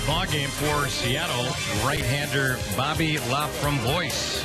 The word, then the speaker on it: Laframboise: He spells his last name L-A-F-R-O-M-B-O-I-S-E. He is a lefty, and he gets ready to face Andrew Romine, who will be batting us for the first time today. The French pronunciation, of course, Laframboise.